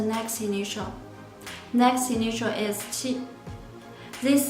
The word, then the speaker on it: qi: Remember, initial qi sound is different of ch sound, so you need to be careful to pronounce initial qi.